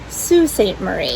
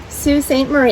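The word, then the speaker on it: Sault Ste. Marie: it in french but it is pronounced sue it's the proper way in michigan apparently there are some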